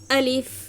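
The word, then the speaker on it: ألف: থেকে উচ্চারিত হয় এটা মুখের খালি জায়গা থেকে আলিফ বলেন আলিফ আলিফ আলিফ আলিফ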